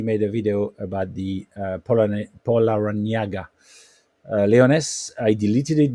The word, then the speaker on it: Por: brand it is called POA five syllables po which is which means four you can pronounce it like p o u r Paul and then La